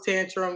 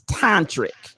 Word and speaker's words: tantric: i wasn't quite sure i thought it was tantrum yes i did i'll be honest it's it's it's tantric or it's a pronunciation it's pretty the correct pronunciation is tantric listen we we desperately need somebody to call